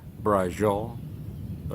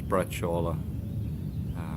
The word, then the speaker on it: braciole: a brush Allah and as the Americans say Brazil oh it's braciola I'll show you how